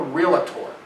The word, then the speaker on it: realtor: I'm a realtor. Folks, there's no A in realtor except in the beginning. It's a 2-syllable word, not 3. Don't say it.